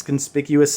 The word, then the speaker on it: conspicuous: out there um let it be known it's conspicuous snoop oh i want a foil of these